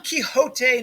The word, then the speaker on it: Quixote: Don Quixote, notice how I pronounce that, Quixote, also sometimes known as the Man of La Mancha, because that's where he's from.